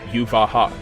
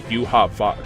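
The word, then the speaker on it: Yhwach: He got beat by Aizen and Yuvaha. Or I should say Yuha-Vak.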